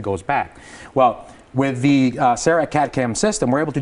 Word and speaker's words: CEREC: Okay, and the first one is a CEREC machine.